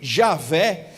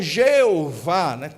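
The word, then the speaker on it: Yahweh: do nome de deus então a maioria das pessoas costumam pronunciar como eu estou falando aqui e arrué ou yaveh em outras pessoas costumam chamar e javé e aí ainda existe pessoas que chamam jeová transliterando aí do hebraico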